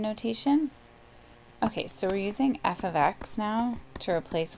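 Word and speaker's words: f(x): say f of X so the way to pronounce this is just f of X that's how we say that so then we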